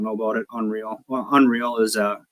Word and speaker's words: UNRL: Well, Unreal is spelled UNRL, a big clothing brand here in